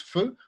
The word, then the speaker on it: pho: vietnamienne qui s'appelle le feu. Ça s'écrit PHO, mais ça s'appelle, enfin, on prononce feu, comme le feu.